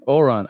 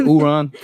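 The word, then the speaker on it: Ouran: How you say that? Oran. What did I say? I said Uran. Don't worry about me.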